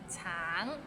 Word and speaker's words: 橙: 橙, it means orange, but some people might find it difficult because the end has a little ng, so it's a bit of nasal sound.